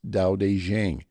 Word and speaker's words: Tao Te Ching: spelled with two T's and aqing is actually pronounced da de Jang uh It Was Written in short concise verses